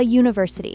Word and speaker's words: university: So, university starts with a yo sound, which is a consonant sound despite starting with a vowel letter. So, you'd say a university.